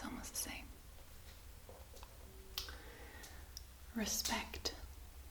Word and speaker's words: respect: Respect. The R is pronounced just a little bit different. So it's respect instead of respect.